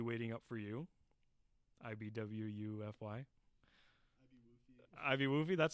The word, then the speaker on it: IBWUFY: Ivy Woofy, that's how you say it?